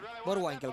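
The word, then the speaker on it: Boerwinkel: Bueno, Winkel, sí, está bien pronunciado. Borwinkel, que decían allí Bor Winkel.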